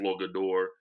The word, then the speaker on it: Flogador: So very like very so yeah, so we into like spacey stuff, and we tell people we're from a planet called a Flogador. The G is silent.